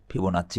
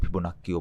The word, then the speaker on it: ফিবোনাচ্চি: ফিবোনাচ্চি বলা হয় কখনো কখনো, আবার ফিবোনাক্কিও বলা হয়, দুইটার যে কোনো একটা উচ্চারণ করবেন।